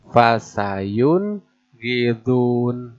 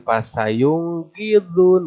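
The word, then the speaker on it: فَسَيُنْغِضُونَ: Fasayun gidun. Bukan pasayung gidun. Bukan. Tapi pasayun gidun.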